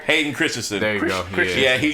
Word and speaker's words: Hayden Christensen: Hayden Christian? Oh yeah, your boy. Yeah. Oh, your boy. Hey, your boy. Did I say his name right? Hayden Christensen.